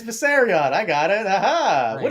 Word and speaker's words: Viserion: It's Viserion.